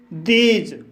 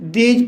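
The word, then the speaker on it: these: जब किसी वर्ड में TH के बाद ई हो तब TH का उच्चारण द होता है। जैसे दीज शब्द में TH के बाद ई आया है, इसलिए TH का उच्चारण द हुआ है, इसलिए इसे दीज पढ़ा जाता है।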